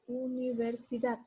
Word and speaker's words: universidad: Ustedes observan, digo universidad. Aquí elevo la voz en la sílaba da, pero por regla gramatical, como es aguda y termina en D, no lleva tilde.